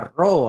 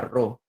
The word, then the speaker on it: Rho: Chicos, la densidad, por si acaso, se escribe con esta letra que se llama Rho, ¿ah? Esta letra se llama Rho.